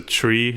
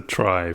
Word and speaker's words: trie: structure and so yeah in retrieval it's still pronounced tree and therefore like it should be pronounced tree and - Yin but